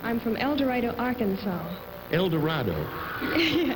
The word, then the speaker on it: El Dorado: El Dorado. El Dorado, that's the Yankee pronunciation.